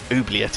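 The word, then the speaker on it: oubliette: on uh it's oet it's a French word oet is definitely the correct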